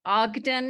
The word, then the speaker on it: Ogden: and just to mention my last name is pronounced Ogden as in Utah or Nash so um I am